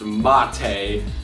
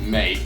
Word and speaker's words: MATE: know it's properly pronounced mate but I'm just gonna pronounce it mate like g'day mate because yeah just deal